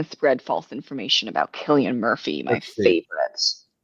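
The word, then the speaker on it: Cillian: Look, I'm not Chileian Murphy, but you know, Killian.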